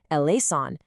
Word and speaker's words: eleison: And typically, you say it with four very distinct syllables, e lean.